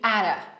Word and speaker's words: out of: A jak mamy dwa razy ty obok siebie, to wychodzi nam takie flap t, które wymawiamy bardziej jak ry. Czyli ara, ara my mind, ara